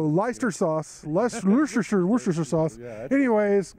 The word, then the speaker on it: Leicester: that but I think it may be Leicester that's true even though it's spelled why sister yeah I think I pronounced like Worcester so leister sauce Leicestershire Worcestershire sauce